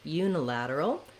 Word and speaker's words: unilateral: Then when we change from lateral to unilateral, we have a little bit of secondary stress here on this U syllable. So that means we're going to have a clear vowel there. This letter U also sounds like how we say letter U, so it does have that glide Y sound, just the same